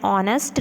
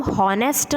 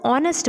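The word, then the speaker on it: honest: एंड ऑनेस्ट reply हम हो नेक्स्ट नहीं बोलेंगे ऑनेस्ट पड़ते हैं इसको note that इज नॉट the letter आईएस silent ऑनेस्ट match words S letter silent रहता है विशेष बोनस हम इसको ऑनेस्ट बोलते हैं वह एंड चाय पियो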